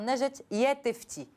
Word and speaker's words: Najat Yattefti: Alors, je précise, Dr Najat Yattefti. Je vais réussir à bien le prononcer.